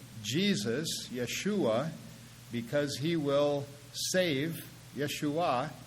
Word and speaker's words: Yeshua: It's a mispronunciation of his name. Most Israelis don't even know the difference. They just speak of him as Yeshu. And the rabbis have, over the last few centuries, pulled off a coup in that regard, because his name is actually Yeshua.